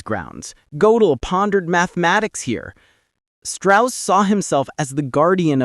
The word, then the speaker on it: Strauss: He insisted that his surname be pronounced Strauss, a Virginia affectation that sounded less foreign, more genteel. But Oppenheimer, the scholar of languages, always made a point of pronouncing it the German way, Strauss.